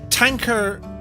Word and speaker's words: Tanqueray: miss it um tanker it's supposed to be pronounced if it's the gin i'm thinking of tanker oh no tang ker a tankari or tanqueray yes i just the gin in